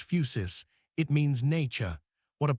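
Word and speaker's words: φύσις: Against it, Diogenes set physis, pronounced phusis.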